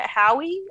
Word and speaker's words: Howe: Curtis, are we pronouncing it Howie or Howe?